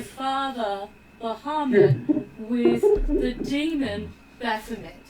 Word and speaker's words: Baphomet: Bahamut. Who? Bahamut. B-A-P-H-O-M-E-T.